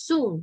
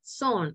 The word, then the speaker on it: soon: La pronunciación de esto es soon, no es son, es soon, okay?